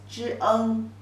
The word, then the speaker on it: 蒸: The pronunciation is 蒸, 蒸.